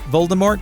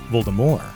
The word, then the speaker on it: Voldemort: bold enough to say "Voldemort" have been getting it all wrong. In 2015, Rowling revealed she always meant Voldemort to be pronounced in the French fashion with a silent T, vohl-duh-MORE, since the name itself